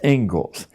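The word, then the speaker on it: Inglis: is the ingalls lecture looks like english but it's pronounced ingalls and i would like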